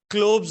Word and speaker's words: Kolbe: Next है क्लोब्स reaction, KOLBES। कुछ लोग इसे कोल्ब्स कहते हैं, कुछ लोग इसे क्लोब्स कहते हैं, जैसे आप प्रोनाउंस करना चाहें।